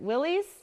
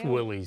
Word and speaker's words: Willys: licensed to Ford and, now I'm going to pronounce this wrong, is it Willys? Yes. Or I've heard it the other way too, and I think It's Willys. I always thought it was Willys.